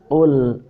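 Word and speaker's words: قُلْ: Nah, ini qaf ya, jangan kul biasa. Kalau kul itu kaf. Qaf itu lebih dalam.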